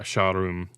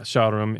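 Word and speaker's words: šarrum: Yeah, Sharum, emphasis on the R's. I shouldn't second guess myself on that. But yeah, Sharum is king.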